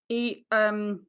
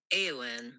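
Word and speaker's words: Éowyn: EOWYN YN pronunciation.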